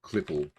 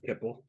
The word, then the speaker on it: Clipple: It's Oswald Clipple. Yeah, instead of Kipple.